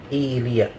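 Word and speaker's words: إيلياء: Ilya adalah Baitul Maqdis, dan ada 3 bahasa dalam pengucapan Ilya. Tapi yang masyhur di sini adalah dengan di hamzahnya dikasrohkan. Kemudian ya-nya sukun, lam kasroh, ya fathah, alif dan hamzah. Ilya, nama lain dari Masjid Al-Aqsa, Masjid Al-Aqsa.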